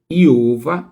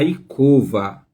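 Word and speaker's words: יעקב: Em vez de iova é a Iicova, tá?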